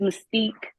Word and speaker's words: Mystique: Give me the correct pronunciation. Good morning to you, ma'am. Good morning. It's Mystique. Mystique.